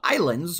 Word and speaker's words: Ylands: Today we were taking a look at the game called Ylands, or Ylands as it is spelled, but apparently it's still pronounced Ylands. Ylands is just the way that Islands used to be spelled, apparently.